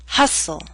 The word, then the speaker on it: hustle: Christmas only Christmas now here's a list of words in which a t- sound is left out note that this list is not complete listen as I say the words bustle Christmas hustle mistletoe whistle wrestle now bustle and hustle